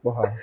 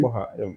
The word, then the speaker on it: Kporxah: So it's an X, but it's pronounced like an H. Oh, So it's okay. Kporxah, yeah.